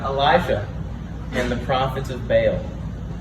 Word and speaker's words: Baal: Today we're learning about Elijah and the prophets of Baal. That's how you say it, Baal.